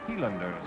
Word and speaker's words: Highlanders: iowa's renowned scottish highlanders or healanders as it's more correctly pronounced this is a wee